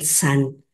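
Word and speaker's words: 散: concentrarse, yu, dispersarse, shan, aunque los maestros pronuncian san, entonces. Ahí disculpen mi pronunciación, está escrito con SH, de acuerdo a mi maestra del chino, la punta de la lengua va hacia arriba, pero yo he escuchado a los maestros que no pronuncian así, sino pronuncian san. Entonces vamos a pronunciarlo san, ya después checamos ahí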